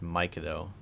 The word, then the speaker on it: Mikado: So we have a comment in here, Ryan, that Mikado is pronounced Mikado, just like how Milan is Milan. It's like M-Y.